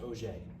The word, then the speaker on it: Auger: Ignore Auger. We'll talk about Auger in a bit. And this, yes, this is pronounced Auger, right? It's French.